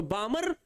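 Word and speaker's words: Balmer: लिखने में आसान रहता लेकिन एल साइलेंट है तो बामर सीरीज प्यारे बच्चों जैसा कि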